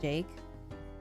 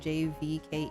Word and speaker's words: JVKE: So I didn't know that you pronounced this man's name as Jake. I thought you just had to say the letters out loud. I thought it was just JVKE.